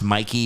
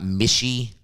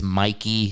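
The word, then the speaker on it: Michie: game at mikey stadium it's pronounced mikey by the way not mishy announcers getting paid half a million dollars can't learn the correct pronunciation it's mikey stadium but no i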